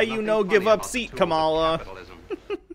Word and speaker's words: Kamala: uh comma kamala okay i'm sorry like the pronunciation most people say are wrong kamala kamala kamala i'll try and remember that i'm